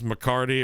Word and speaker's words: McCarty: His last name is McCarty. It rhymes with guitardy.